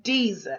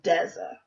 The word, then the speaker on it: Deza: They'll say Deeza instead of Deza, just like the first syllable of a desert, like the Sahara, which is geologically an